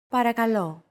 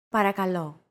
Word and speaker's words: Παρακαλώ: Παρακαλώ. Παρακαλώ. Chances are your pronunciation was pretty spot on. The P, R, K, and L sounds are practically identical to English.